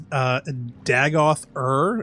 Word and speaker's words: Dagoth Ur: Courtney likes the final boss's name is Dagoth Ur. Is that Yeah, is that the Dagoth boss's Ur. name? Yep. Am I pronouncing that correctly?